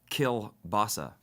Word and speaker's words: Kill Bossa: from a band called kill Bossa kill basa right now like like I'm killing the Bossa kill oh okay pasa not like sauerkraut and kielbasa right a bit of a